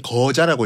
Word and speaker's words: 거자: 한 명당 시험 보는 사람을 거자라고 있거든요. 거자요. 발음에 유의해 주시기 바랍니다. 거자.